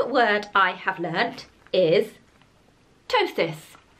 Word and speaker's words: ptosis: learned the new word I have learned is ptosis spelt with the silent P a little bit like a pterodactyl and I have got Stage three ptosis ptosis means saggy saggy boobies stage 3 is